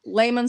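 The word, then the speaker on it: Lehman's: not sure but um I know Le Layman's Hardware I always say it wrong lemon's Hardware they have the the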